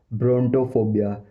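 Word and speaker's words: brontophobia: और जो दूसरा जो टर्म है वो है ब्रोंटोफोबिया, ब्रोटोफोबिया, ब्रोंटोफोबिया, ब्रोंटोफोबिया, ब्रोंटोफोबिया।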